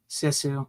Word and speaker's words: Sisu: Sisu. Like you can see with your eyes.